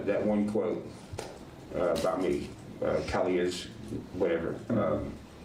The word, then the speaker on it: Cali: So Zanime and it's not even it's not even Kylie with a K. It's Cali as we clearly see that attorney say it's Cali. It's spelled like Cali like California.